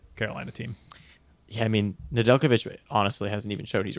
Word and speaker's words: Nedeljkovic: Their third stringer, Nedeljkovic. I can't say his name for some reason. It's just like Djokovic.